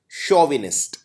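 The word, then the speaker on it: chauvinist: CHAU को हम pronounce करते हैं शोविनिस्ट।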